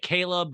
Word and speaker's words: Chleb: And we have a scene of her and Chubbs, her boyfriend, Caleb, you say it Caleb, but it's spelled Chleb, but in my head, it's Chubbs.